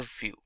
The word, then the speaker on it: Vue.js: mainly focused on The View part of the web application and hence it's bit faster when compared to angular which is a complete web application solution vue.js is commonly referred to as View and pronounced as vuejs